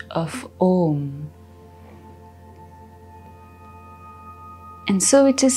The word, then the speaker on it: Om: In order to chant Om, we will make the use of three syllables, A, U, and M.